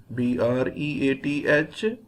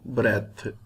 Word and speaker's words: breath: be pronounced as breathe if e is not there at the end it will be pronounced as breath and it will be